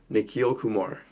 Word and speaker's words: Nikhil Kumar: have a very special guest here with me nikil Kumar did I pronounce that right yep perf I forgot to